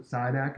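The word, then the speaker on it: Šidák: Another comparison, I pronounce it SIDAC.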